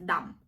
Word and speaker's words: dumb: Dump. До речі, бу не читається. Дам. Дам.